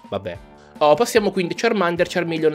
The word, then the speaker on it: Charmander: ma giusto per puntualizzare, Charmander non si pronuncia Charmander, come dicono nel doppiaggio nuovo dell'anime. Si pronuncia Charmander. Infatti il suo nome viene da Charcoal, carbone, più Salamander, Salamandra, Charmander. Ne sono contento perché sentire